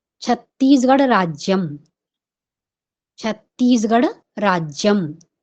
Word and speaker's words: छत्तीसगढ़: अस्ति तो छत्तीसगढ़ राज्यम ऐसा बोलते समय हमारा उच्चारण कहां तक उचित है शब्दों पर हम कैसा प्रभाव डाल रहे हैं शब्दों पर वजन किस तरह से डाल रहे हैं छत्तीसगढ़ राज्यम हमको छत्तीसगढ़ शब्द पर महत्व देना है या बल देना